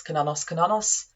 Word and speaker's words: Cernunnos: So that's why I pronounce Cernunnos.